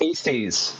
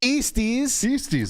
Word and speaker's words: Eastes: No one knows how to pronounce it, and it's not pronounced how it's spelled. It's pronounced Eastes. Eastes.